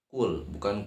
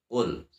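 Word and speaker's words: قُل: Qul a'udzu birabbil falaq. Qul a'udzu birabbil falaq. Dalam ayat pertama, yang pertama tulisannya qul ya, qaf qul. Terus dibaca bukan kul, tapi qul.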